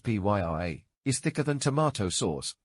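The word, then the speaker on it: purée: Tomato puree, pronounced Pyree, is thicker than tomato sauce, but much thinner than tomato paste.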